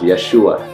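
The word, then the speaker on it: ישוע: living now you know Joshua in in Hebrew is pronounced Yeshua and Yeshua means salvation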